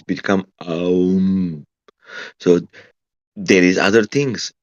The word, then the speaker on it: Aum: They say it's aum. Yeah, It's they're not like talking about a ohms like u resistance ohms. So it's three syllables.